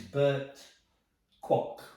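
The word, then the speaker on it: Burt Kwouk: And Bert just said, "My name's Bert Kwok. It rhymes with clock."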